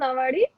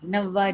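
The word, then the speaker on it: Nauvari: So how did the idea of wearing a shoe on a Nawadi, is it pronounced Nawadi? No, no, no. Nawadi, Navvari. Navvari.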